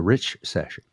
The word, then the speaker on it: richcession: the rich session and it's spelled r-i-c-h-c-e-s-s-o-n like recession only it's the rich session and the point of